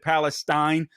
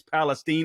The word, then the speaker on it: Palestine: I pronounced it Palestine the other day or yesterday, I believe it was. But I've since learned that the correct pronunciation is Palestine, Ohio.